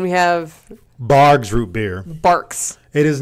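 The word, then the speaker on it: Barq's: and tell him it's barks I think it was probably just like people would say barks and I would just not hear the K pronunciation and think it's like bars and maybe I just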